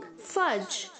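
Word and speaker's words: fudge: fogged हगना फॉक्स फॉक्सिंग फर्ज फर्ज first यहां पर जो दी है बच्चों जो साइलेंट है और जो एफ यू जी ए है वो एफ ए जी की तरह साउंड होगा ओके फर्ज फर्ज फर्स्ट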